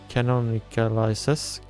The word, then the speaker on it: canonicalizes: And here we have the nfkc canonicalizes. How do you say canonicalizes? Sure thing. You typically say it like this. Canonicalizes. Basically just stress that non in the middle and let the rest flow out.